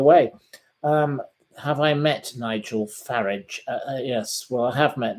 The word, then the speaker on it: Farage: most people call him Farage. And she pointed out that his father was a car dealer and his name was Farage, as in garage.